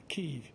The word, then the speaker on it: Kyiv: Kiev is the typical way that it's pronounced in English, but it's become more popular to pronounce it in the more accurate to Ukrainian way.